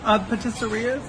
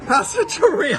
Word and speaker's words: pasticceria: Patisserias, is that how you say it? Okay, we're starting this one again. No, we got pasticceria.